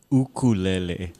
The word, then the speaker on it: ukulele: go hey and it's and it's ukulele not are you serious I've been pronouncing it wrong my whole life like it's um uku is like uh hair hair lice yeah oh okay yeah so it's kind of like jumping fleas type of thing that that's English Hawaiian